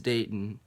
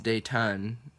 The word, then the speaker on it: Dayton: because you don't you don't really see a why followed by a tee very often so usually when I meet people and I say hey like my name is datin that's the way I pronounce I don't say my name is date on which is the way it's spelled but that they'll they'll